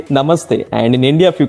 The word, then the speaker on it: namaste: So in India, if you come, you will say namaste. Namaste. Oh, really? Namaste. Yeah. What? I didn't know that. When you greet someone, you can say namaste.